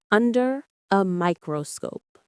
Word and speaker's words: under a microscope: Let's say the phrase, under a microscope. Under a microscope. The rhythm is natural. The main stress is on microscope. Let's say it together.